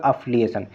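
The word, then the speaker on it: affiliation: बाकी इसको प्रोनाउंसिएशन करो, इसका प्रोनाउंसिएशन करो, इसका प्रोनाउंसिएशन करो, लेकिन यहाँ पे सेकंड अफली जो प्रोनाउंसिएशन करिए सेकंड सिलेबल के यहाँ पे स्ट्रेस दे रही है, तो ऑप्शन नंबर बी जो राइट आंसर, ओके।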